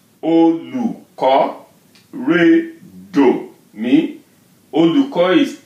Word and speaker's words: Olùkọ́: Olùkọ́. Again, look at that. O with the dot, right? Olùkọ́. Re, do, mi. Olùkọ́.